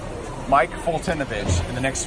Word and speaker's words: Foltynewicz: If you can spell Mike Fultinovich in the next 5 seconds, I will buy you a beer right now.